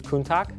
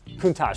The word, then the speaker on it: Countach: I needed to be coached on how to pronounce Lamborghini. It's Countach? Countach. Countach, sorry.